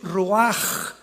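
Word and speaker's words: רוח: La palabra para espíritu en el hebreo es la palabra que es roaj, que se escribe ru con ch, pero repito, ese pronuncio pronuncia como J. Roaj, roaj el kadosh, Dios Jesús, el espíritu.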